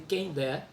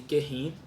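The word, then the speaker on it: Kehinde: Vai contar a história, a trajetória de Kendé, há quem pronuncie Querrin, né?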